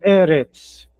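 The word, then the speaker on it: ארץ: Nesse caso eu leio o e mais forte no começo. Erets. Erets.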